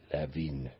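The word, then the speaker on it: Levin: that he was Jewish it wasn't Lin L e w i n it was l e v i n leevin Tav stock on one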